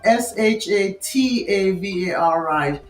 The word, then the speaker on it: shatavari: scalp okay so the asparagus root there is it's spelled s h a t a v a r i shatavari and I find that at if any